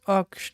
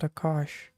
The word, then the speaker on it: Aksh: Okay, it's Aksh, not Akash.